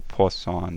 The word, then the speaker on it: Poisson: It's called a Poisson distribution. That's how you pronounce that word. Poisson is the French word for fish, apparently.